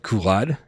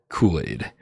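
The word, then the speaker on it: Culade: the two dollar tip says Kool-Aid his name is spelled c-u-l-a-d-e and so I said kulad because I'm dumb and he says it's pronounced Kool-Aid afterward Kool-Aid social destruct with the 10 tips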